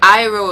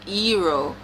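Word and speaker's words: Iroh: some of the characters for example ang is ang iro is eero saka is soccer and agni kai is ugly key at first i thought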